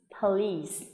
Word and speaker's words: police: Khi mà làm một cái từ có hai âm tiết ấy, thì chúng mình phải nói đủ cả hai âm tiết và đồng thời mình sẽ nhấn trọng âm vào trọng âm của nó. Trong trường hợp này là âm tiết thứ hai, please, please.